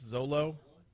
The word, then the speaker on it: Xolo: Guy's name is spelled Xolo. I guess Zolo.